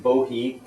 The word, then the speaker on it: Bohea: is their bohi um that's the dictionary pronunciation bohi b o h EA this is their T